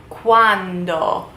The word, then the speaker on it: quando: Quando. Not to be confused with quanto, which is basically how much. When? Quando. With a D. Quando.